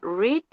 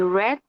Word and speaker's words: read: Quedaría read en español, en presente y red en pasado, como si fuera el color rojo.